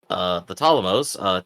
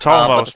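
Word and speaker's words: Ptolemaios: The Ptolemos, too, manages Yes, to enter. yes, please correct that because we're getting shouted at in the comments that the P is silent.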